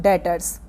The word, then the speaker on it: debtors: Next क्या है, डेटर्स। Spelling है DEBTORS, बट इसे बोला जाता है डेटर्स। ध्यान रखिएगा इस बात को।